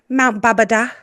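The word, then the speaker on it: Babadağ: In the background, we have Mount Babada. Is how you say it. Is that how you say it? Mount Babada. But it's spelled Babadag. Babadag.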